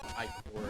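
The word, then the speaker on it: ichor: I was pronouncing it wrong. It's I-core, and I hate that.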